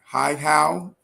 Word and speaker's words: Hihow: So is it Hihow? Did I pronounce it correctly? Oh, great. That is perfect. I I like to help people out. It's like, hi, how are you?